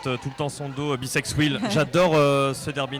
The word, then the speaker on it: Bisex Wheel: Et 24-26 qui présente tout le temps son dos Bisex Wheel. J'adore ce derby name, soit dit en passant. Ça s'écrit B comme l'abeille, sex, Comme le SEX, et wheel comme la roue.